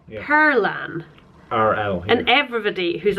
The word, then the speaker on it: Perlan: Why is it called, well, why do you pronounce it Pertlan? Perlan. It's Icelandic for pearl. No, but if it's spelled... Perlan. Yeah, but where's the T coming from? I honestly don't know. It's just Perlan.